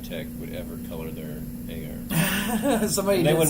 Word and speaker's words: agar: They'd pronounce it some terrible thing like auger or agar. I will never call it auger. I don't care how many people tell me it's technically auger.